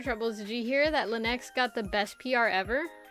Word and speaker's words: Linux: Linux is an Linux, that's how you say it.